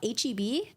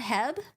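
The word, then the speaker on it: H-E-B: Coast thing HB wait do you pronounce it out HB not Hebb I'm in Arizona there's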